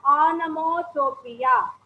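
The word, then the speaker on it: onomatopoeia: figure of spring speech anamotropia you have to pronounce it as anamotopia i am telling it again it is anamotopia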